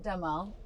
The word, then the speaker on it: Demol: Today I have Jessica Damal. Is that pronounced correctly?